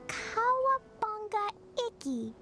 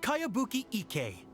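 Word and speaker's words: Kayabuki Ikki: By Kawabunga Iki. Yoimiya, this is a really strange name. Who's this Kawabunga? It's pronounced Kayabuki Ike.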